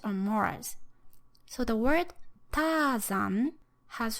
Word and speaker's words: Tarzan: So Tarzan in English has 2 syllables, and the stress is given to the first syllable. So there's this strong, weak, long, short, up and down rhythm, Tarzan.